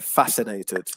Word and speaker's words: fascinated: the word fascinated so the stress is on the first syllable they're fascinated fascinating okay there you